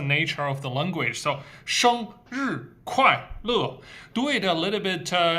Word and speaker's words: 生日快乐: So 生 is a nasal sound, 生 flat, and 日 going down. And 快 wide open, 快 going down, 快. And 乐. So this is four syllables, only one flat tone, 生. The other three are all down tone.